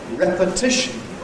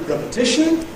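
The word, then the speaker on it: repetition: Therefore, it gets the vowel /e/, /rep/, /ˌrepəˈtɪʃn/. So typical foreigners’ errors are, on the one hand, /rəpəˈtɪʃn/, over-weakening, on the second hand, /reˈpiːt/ or something, doing the wrong things on the first one.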